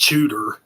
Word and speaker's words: Tsjuder: They've been around for a while, but it's pronounced Judah.